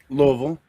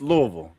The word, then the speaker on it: Louisville: Louisville. There's only one. You don't say Louisville. No, no, it's Louisville.